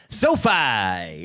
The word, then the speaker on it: SoFi: SoFi. It's SoFi as in SoFi State.